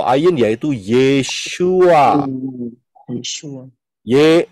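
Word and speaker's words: Yeshua: sini kemudian yang berikutnya jadi yesua tulisannya y e s h u a itu adalah cara pengucapan Oh pronounciation kalau gak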